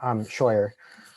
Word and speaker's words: Scheuer: Scheuer is how it's pronounced.